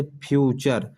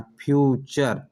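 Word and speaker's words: future: जब किसी वर्ड के लास्ट में TURE आए तो TURE को चर से पढ़ते हैं। ठीक है, जैसे फ्यूचर, देखिए टी के बाद URE आ रहा है, इस वजह से यहाँ चर का उच्चारण आ रहा है, फ्यूचर।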